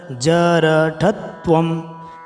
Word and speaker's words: जरठत्वम: बहुत से लोगों के उच्चारण में दिक्कत आएगी, इसमें ध्यान देखना। जरठत्वम जरठत्वम समायातौ जरठत्वम जरठत्वम जर, फिर उसके बाद ठ के बाद तो है।